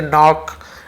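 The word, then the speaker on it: knock: पढ़ेंगे के सट वैसे नॉक नाइफ नी है ना सब में के एन रहता है नॉक नॉक ऐसे बोलते ना लेकिन के साइलेंट होता है केवल एन ऐसे पढ़ते हैं वह जानता था पास्ट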